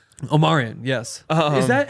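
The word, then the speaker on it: Omarion: you're going to have to learn that it's pronounced Omarian Omarian yes is that how the singer said it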